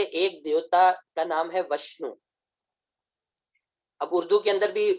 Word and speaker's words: وشنو: واو استعمال ہوتا ہے، لہٰذا عربی کے اندر بھی وشنو ہی آنا چاہیے. لیکن عربی کی بہت ساری کتابیں ایسی ہیں کہ جہاں تقابل ادیان کی جب بحث آتی ہے اور ہندو مت کا جب ذکر آتا ہے تو وہ وشنو کی جگہ فے کا تلفظ لکھتے ہیں، فشنو.